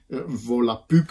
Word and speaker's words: Volapük: Volapük schrijf je met een U-umlaut en dat spreek je ook uit met een U.